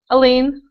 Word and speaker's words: Aline: You pronounce it Aileen or Aline? Aline. Aline?